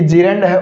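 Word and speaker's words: gerund: इसका correct pronunciation क्या होता है, तो इसे बोलते हैं साथियों जेरंड।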